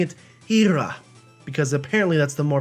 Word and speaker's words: Hera: Technically, Hera is an acceptable pronunciation of this Greek goddess, wife of Zeus, but the preferred pronunciation is Ira, so I'm going to start pronouncing it Ira, because apparently that's the more preferred pronunciation.